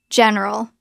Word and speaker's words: general: It looks like general, 3 syllables. Natural pronunciation. Drop the middle E. Let's practice. First sound, general. Second sound, ral. Together, general. General.